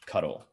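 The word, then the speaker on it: ctl: But for now, what we're going to need to interact with the embedded host that's running in this REPL is cuddle, which is how it's pronounced, and it's short for control interface.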